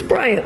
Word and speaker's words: Bryant: It's Bryant, like Kobe.